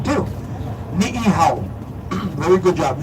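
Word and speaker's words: Niʻihau: Oh, beautiful pronunciation, too. Ni'ihau. Very good job. Ni'ihau.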